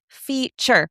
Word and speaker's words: feature: also notice that feature, I see an e at the end, but I don't hear an e sound. So, that's a silent e at the end. Did anyone also notice that t here is making a ch sound?